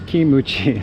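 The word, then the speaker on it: キムチ: So this says kimuchi. So there's the Japanese pronunciation of kimchi.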